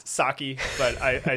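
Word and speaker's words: Psaki: cannot pronounce her name it's pronounced sake but i i say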